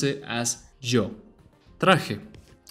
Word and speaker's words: traje: Traje. Now the J here sounds exactly like it sounded earlier. It's like a cat's hissing sound. It sounds like traje, traje.